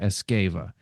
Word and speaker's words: Esgueva: and I'm going to say your name and spell it again so the people uh will know where to go escava e SG v